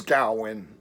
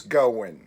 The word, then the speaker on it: Gaowin: home to me so my last name is gaowin and it's constantly mispronounced as goin so i named the